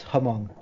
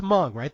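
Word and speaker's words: Hmong: no Mario it's pronounced hamong please I worked all day to make sure I got that pronunciation correct I believe it's m right the H is silent yes it is it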